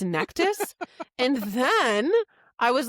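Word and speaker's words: Nektas: And I'm like, "Oh my god, we've been pronouncing Niktose wrong this whole time. It's Nectus."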